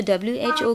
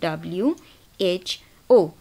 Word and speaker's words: WHO: बट अगर हम world health organisation लें, WHO, तो WHO की कोई अपनी साउंड तो नहीं है, हम हर अल्फ़ाबेट को बोल रहे हैं अलग से, WHO।